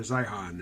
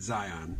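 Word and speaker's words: Zeihan: from it is that I've been putting too much emphasis on the H in his name saying Peter Zion and he pronounces it Zion or Zion anyway for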